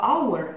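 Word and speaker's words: hour: многих учили в школе например слова аур начинается с согласной буквы эйч но она не произносится потому нам нужен артикль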